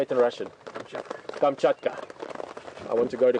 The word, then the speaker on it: Kamchatka: remembered um laws still in Russia the Yucatan kamchata how do you say it in Russian Kamchatka I want to go to kamchata you know